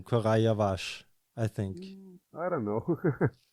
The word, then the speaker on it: Yavaş: Yeah, Yavaş. Yavaş. So you pronounce really good, by the way. So the emphasis is on the first A.